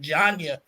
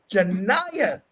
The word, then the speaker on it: Janiyah: I believe I've been saying Janya. Janiyah Henderson is the correct pronunciation.